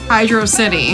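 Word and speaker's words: Hydrocity: of it is that it's written the same as words like velocity and you know that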